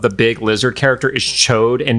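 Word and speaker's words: Ch'od: the name of the big lizard character is chode and not Chad chode yes are you sure that's what they say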